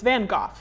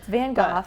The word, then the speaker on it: van Gogh: okay and then he of course I don't pronounce Vincent van Gogh correct yeah so it's van Gogh yes van Gogh I was very disappointed that I've been saying